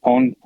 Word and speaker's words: PWN: So, hey everybody, I'm from Pawn, and you can pronounce it PWN, Pawn, whatever you like.